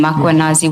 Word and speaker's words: Mkhwanazi: Do you see the title of the document draft for MMC iPad Makanazi just as you pronounce his name Makuanazi with the A.